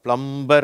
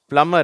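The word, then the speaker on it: plumber: பிளம்மர் சரியா இது வந்து சில பேர் தப்பா வச்சிருக்கிறாங்க பிளம்பர் அப்படிங்கறாங்க இந்த பி வந்து இங்க சைலன்ட் அதனால பிளமர் அப்படின்னு சொல்லணும் ஓகேவா அடுத்தது இங்க பார்ப்போம்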